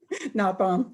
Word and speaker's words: Notbohm: us local author ellen am i pronouncing that correctly ellen you did the first time not bomb not bomb okay i'm sorry ellen not bomb she is an internationally